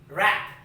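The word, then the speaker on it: wrap: with some examples see w-r-a-p rap w w-r-o-n-g wrong see here you can see that related w and it is silent so rap and the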